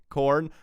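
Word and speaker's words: Khorne: I suppose it's between salamanders and corn. Maybe, you know, helpful lizard boys or blood for the blood god. It's a bit of a contrast, isn't it? Corn. Now, it's spelled with a K. Corn.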